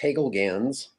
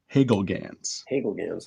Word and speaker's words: Hagelgans: Well, the American version is Hagelgans. Hagelgans.